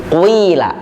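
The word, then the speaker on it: قِيلَ: Contoh bacaannya adalah, kalau kita biasa bacaan, kita membaca qila, maka menggunakan huruf far'i yang ini dengan dibaca menjadi qila.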